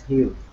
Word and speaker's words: Hugh: i maybe i'm saying your name wrong is it you yes hello hi am i saying your name correctly yeah hello yes my name is hugh oh very good good